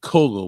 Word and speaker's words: Cowgill: how you spell his name he calls it Coco but it's spelled calgill well because it oh you can